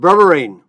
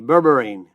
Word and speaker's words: berberine: great topics again we're going to talk about burine that's spelled be like in boy e r be like boy e r i n e berberine it's an herb well I shouldn't say it's